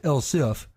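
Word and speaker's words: elif: e LS i f still pronounced L if but dispelled without the e with that we're ready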